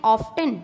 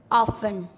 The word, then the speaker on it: often: OFTEN ऑफ्टन, नहीं नहीं, ऑफन।